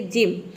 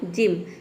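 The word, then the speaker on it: gym: है जी के बाद तो जी को हम क्या प्रोनाउंस करेंगे ज प्रोनाउंस करेंगे जैसे कि जिम यहां पे देखिए जी का ज हो जाएगा और वाई का हो जाएगा यहां पे ई एम का हो जाएगा म पूरा हो जाएगा जिम जिम का मतलब होता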